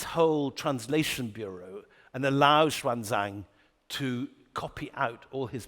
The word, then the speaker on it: Xuanzang: This incredible monk called It used to be pronounced Huan-Sang in the old thing, but Xuanzang is how he's pronounced today.